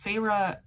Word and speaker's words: Feyre: introduced feyre's character and her name is spelled f-e-y-r-e and i was like i don't know how to pronounce that so i looked it up and then not a page later they actually like told you how to pronounce her name kind of like hermione and then of course